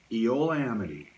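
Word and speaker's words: Eola-Amity: know is it pronounced Eola Amity Hills Ada in Oregon she's like exactly Eola Amity it's almost ran into one but it's two it's Eola and Amity but it kind of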